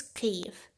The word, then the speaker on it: Kyiv: capital its name is cleve k-y-i-v it's pronounced and transliterated exactly as it sounds in ukrainian there shouldn't be any